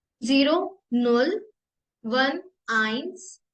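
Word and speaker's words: eins: बोलते हैं नल नल नल वन को हम प्रोनाउंस करेंगे आइंस आइंस आइंस same to स्वाय स्वाय three dry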